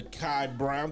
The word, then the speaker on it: Kai Brown: And also have a very special young lady, Sister Kai Brown. Did I pronounce it right?